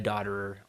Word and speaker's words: Dotterer: And then we have Ariana Dotterer on backing vocals. And that's how you say it. Okay. Dotterer, yeah. It reads, you want to say it some other way, but yeah.